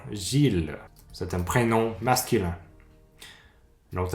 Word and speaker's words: Gilles: les noms propres comme Gilles donc encore ill et comme déjà expliqué encore la plupart de temps ill se prononce I mais dans certains noms propres ça devient il comme encore Gilles c'est un prénom masculin